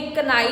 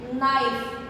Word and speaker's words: knife: अब नेक्स्ट भी ऐसे ही है KNIFE, तो ये कनाइफ नहीं होगा। बहुत सारे लोग बोलते हैं कनाइफ, लेकिन कनाइफ नहीं होता, वो होता है सिर्फ नाइफ। के जो है पूरी तरह साइलेंट है।